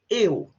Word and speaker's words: eu: Well, eu, it's not o or eu, sou, it's a long O, sou. If you're not sure, imagine the word soul and remove the L. Eu sou a, eu sou o. Usually say, some people say eu sou o, but it sounds very unnatural. We tend to just pronounce U, okay?